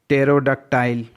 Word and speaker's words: pterodactyl: Next, PTERODACTYLE, यहाँ पर भी P साइलेंट है। टेरोडक्टाइल, एक समय डायनासोर हुआ करता था, उसी समय एक उसी टाइप का एक अन्य जानवर हुआ करता था जिसको टेरोडक्टाइल कहा जाता था।